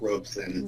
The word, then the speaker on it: Robeson: that you're you are saying it correctly Roderick Robson Roisin well thank you so much for joining